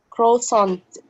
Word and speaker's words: croissant: coffee, or tea, and sometimes pastries or croissants.